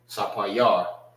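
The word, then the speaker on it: ספיר: Sapayar. Sapayar. All right, remember, a lot of words sound similar to their name. All right, when it's said in Hebrew. My bad. Sapayar.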